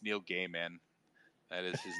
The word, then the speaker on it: Neil Gaiman: when I was younger I thought it was Neil Gaiman but no it's it's Neil Gaiman that is his name or like or like